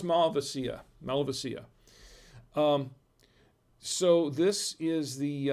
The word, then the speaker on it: Malvasia: bianca i know it looks like it says malvasia right it's mel it's pronounced malvacia melvacia so this is the um the wine